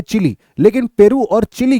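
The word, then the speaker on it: Chile: shape का भी है स्पेलिंग बस याद रख लेना भाई स्पेलिंग अगर आप ऐसे पढ़ना चाहोगे तो शायद आपको चाइल पढ़ने में आए लेकिन इसको चिली पढ़ते हैं चिली अब यहां पर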